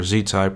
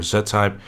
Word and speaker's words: Z-Type: Zita if you could that is pronounced in two different ways depending on what side of the world you're from it's either Z type or Zed type whatever you might prefer we both know what